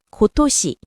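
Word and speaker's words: 今年: 음독인 연는 낸이라고 읽으며 훈독 토시를 활용해서 올해는 고토시.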